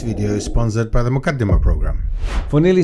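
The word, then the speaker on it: Muqaddimah: One of these authorities saying Muqaddima the way it should be pronounced. Muqaddima.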